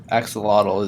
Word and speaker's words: axolotl: Yeah, so the like native pronunciation of axolotl is axolot, Interesting.